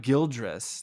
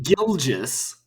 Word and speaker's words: Gilgeous: R there's no R there's no R in in Gill just it's not guildress there's no whoever said there was I I used to be Shay gilges Alexander geologist Alexander there we go you put an r in there no I had three silent ours I always think there's a silent R everywhere it's up to